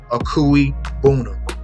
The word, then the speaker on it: Okwuegbunam: All right, Albert Okwuegbunam.